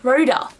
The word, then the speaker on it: Rhoda: I always go to say Rhonda. It's not Rhonda, it's Rhoda.